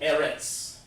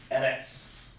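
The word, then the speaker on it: ארץ: Like in the Jewish language, the fake Jews, this word right here, earth, they would call that Eretz. Eretz. It doesn't, but that's how they pronounce.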